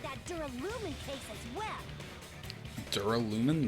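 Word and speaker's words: Duralumin: Dural lumin. That's how you say it. I was saying duralaman.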